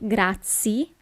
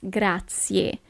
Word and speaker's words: grazie: attention here it's not grazie but it's grazie you really have to pronounce the last letter the letter e and the letter e